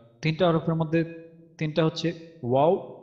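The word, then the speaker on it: واو: মাকড়াজ আছে, তিনটা হরফ আছে, তিনটা হরফের মধ্যে তিনটা হরফের মধ্যে তিনটা হচ্ছে ওয়াও বা আর হচ্ছে মিম।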